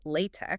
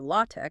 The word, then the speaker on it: LaTeX: The widely adopted macro package, Latex, pronounced latte or latte, was developed by Leslie Lamport.